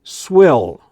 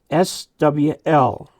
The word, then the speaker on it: SWL: You don't say swill, okay? Swill means something having to do with pigs. SWL, pronounce all the letters.